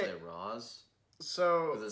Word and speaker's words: Ra's: race I was like it's supposed to be pronounced race the people I say it Roz so the spelled Kevin